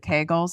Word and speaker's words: Kegel: How is that different than doing, is it Kegels? Is that how you say it? Kegels? Kegel. How is that? I'm like Kegel. It rhymes with bagel though.